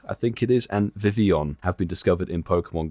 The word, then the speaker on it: Vivillon: Milo, are you saying Vivillon, bro? Just read That's how you Vivillon.